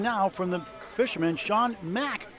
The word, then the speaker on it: Mack: Academy 3 has two strikes and one coming now from the fisherman Sean Mack. Donald, not Mick, it's Mac.